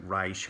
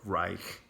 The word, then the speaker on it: Reich: it's our AI CH so I've heard people pronounce it rice or Reich so you pick I